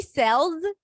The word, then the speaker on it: sells: Let's do uh She sells seashells by the seashore. S's and Z's. She sells Notice the the Z sound at the end even though it's spelled with an S.